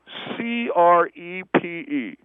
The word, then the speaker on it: crepe: Pronounce this. C-A-V-I-A-R. C-A-V-I-A-R. Caviar. Very good. Okay, try this one. C-R-E-P-E.